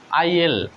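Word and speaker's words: I'll: আই উইল এর সংক্ষিপ্ত হচ্ছে আই অ্যাপোস্ট্রফি দুইটা এল, ডাবল এল, তাহলে আমরা এখানে কি আই উইলে বলবো? এটার আসল উচ্চারণ বা অরিজিনাল যে উচ্চারণ সেটা হচ্ছে আই এল।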